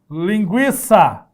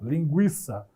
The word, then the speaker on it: linguiça: a mesma pronúncia a outra exemplo linguiça certo tinha treino Aqui também tá só faz uma carinha Epa aquela carinha isso mesmo linguiça que dá o trema não precisa mais grafar o tema mas a pronúncia é a mesma linguiça certo aí não vai